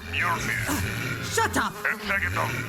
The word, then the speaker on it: Mjolnir: First off, it's pronounced Mjolnir.